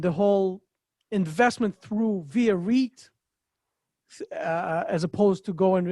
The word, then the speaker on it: REIT: major difference between a reit and how does it work sure well you you've already uh learned something because you pronounce it right it is re so uh that's correct